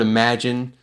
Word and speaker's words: imagine: So in the word imagine, the stress is on the 2nd syllable, that maj.